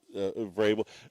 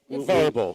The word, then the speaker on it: Vrabel: That one was Vrabel. Verbal.